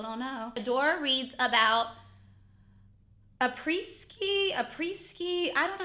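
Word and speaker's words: Après-ski: Adora reads about a preski. I don't know how to pronounce it.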